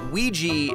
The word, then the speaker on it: Ouija: ouija series we JA Ouija I pronounced it we G as in creepy Luigi I just double-check the Cambridge English dictionary and it is in fact Ouija in the US and in the UK boom